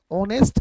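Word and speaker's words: honest: तो यहाँ पे ऑनेस्ट के पहले हम एन का प्रयोग करेंगे क्योंकि एच इज साइलेंट और इसकी शुरुआत हम वॉवेल से करते हैं, ऑनेस्ट।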